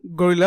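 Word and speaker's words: guerrilla: এই ক্লাসে আমরা আলোচনা করব what is গরিলা marketing. What is গেরিলা আসলে উচ্চারণ হচ্ছে গেরিলা, গরিলা। আপনি গরিলা যেটা উচ্চারণ করতে পারেন করবেন।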